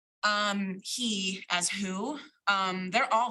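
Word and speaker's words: הוא: like who, even though it would be pronounced like he.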